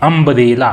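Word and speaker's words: umbrella: हालांकि यू लिखाया हुआ है, लेकिन इसको अम्ब्रेला पढ़ते हैं, तो उच्चारण क्या आ रहा है?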